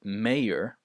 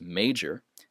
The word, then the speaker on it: major: can tell here uh in some languages the J is pronounced like a y so some people might uh pronounce this word Mayor but that's incorrect this is Major and majority and and